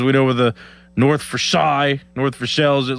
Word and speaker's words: Versailles: Every single one of us says Versailles the wrong way. Versailles. Supposed to be Versailles. Oh. But every single one of us says North Versailles.